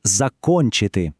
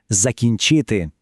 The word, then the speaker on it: закінчити: Помилка була у слові закончити. Чому? А тому, що це класичний приклад тієї самої інтерференції, про яку ми говорили. Правильно казати закінчити. Тепер це знаємо.